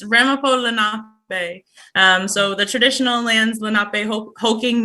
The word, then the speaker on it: Ramapo Lenape: Your pronunciation was not necessarily wrong, but it's Ramapo Lenape.